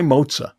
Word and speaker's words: Mozza: So it is mozza, short for mozzarella, but a lot of people will come up to me and say, I love your restaurant mozza.